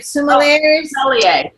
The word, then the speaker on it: sommelier: be one of those wine, I can never pronounce it right, sommeliers.